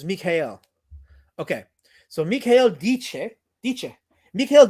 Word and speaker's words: Michael: And I also think it's not Michael, it's Michael. Pronounced like the German name. Okay, so it's Mikhail.